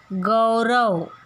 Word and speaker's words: गौरी: गोरी ओ का उच्चारण है और यहाँ पर औ, गौरी।